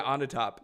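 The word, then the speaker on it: Onatopp: uh uh sorry is did I pronounce her name right onp onp on the top yeah on the top um the classic James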